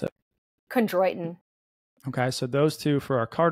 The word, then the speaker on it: Chondroitin: I can't pronounce it. Chondroitin.